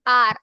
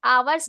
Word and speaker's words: hour: Same with आर। आवर्स नहीं होता है, आर पढ़ते हैं हम इसे। ठीक है? आर। Because H is silent hair.